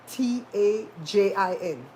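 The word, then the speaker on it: Tajín: Tajin. The J is spelled like it sounds like an H.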